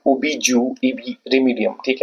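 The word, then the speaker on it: jus: कर सकते हो डिपेंड्स अपॉन यू फिर हमारा जो 15 नंबर पे है वो एक लीगल मैक्सिमम है ओबी ज रिमीडियम ठीक है इसको ज पढ़ना है जे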